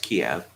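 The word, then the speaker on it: Kyiv: out of russia's orbit it's not kiev anymore it's not how does that work oh it's still pronounced kiev okay but it's spelled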